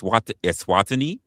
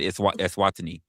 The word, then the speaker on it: Eswatini: If I'm looking at it, I'm trying to pronounce it. It's Eswatini.